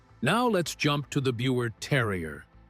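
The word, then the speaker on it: Biewer Terrier: Number nine, Buer Terrier. Now, let's jump to the Buer Terrier. And yes, you pronounce it like beaver.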